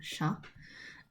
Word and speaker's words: chat: Um, so spelled chat and yeah, but it's called sha. Um, the t is silent.